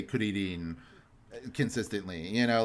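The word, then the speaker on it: クリリン: And Krillin specifically is so petty if anybody gets angry at that, because you know how the Japanese would pronounce the name Krillin, Kuririn.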